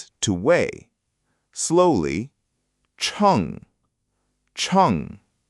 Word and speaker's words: 称: Or you can say, "Bang wo chong yi xia. Please weigh it for me." Chong. Chong. Good. Not change, but chong. Short and clean.